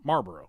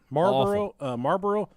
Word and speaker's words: Marlboro: but I called him Marlboro Marlboro yeah but when you try and there's an L in there yeah try and say it like it's spelled Marlboro Marlboro yeah Marlboro when